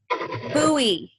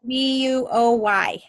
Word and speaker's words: buoy: How do you say that thing that holds up the bridge? Like what kids use in the pool? Buoy. Buoy. Uh-huh. Thank you. Yep, and it's spelled B-U-O-Y.